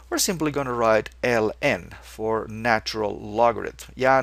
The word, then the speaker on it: ln: Just use ln, and we normally pronounce it ln. It's just like the one that you have to mow every summer.